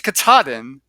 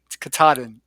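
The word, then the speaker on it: Katahdin: It's 14 states long and I think I pronounced it incorrectly in the video and so I'm going to have to correct myself. It's Kataden. Uh, or no, it's not. It's Kataden because I always say Kataden and it's actually Kataden, Maine.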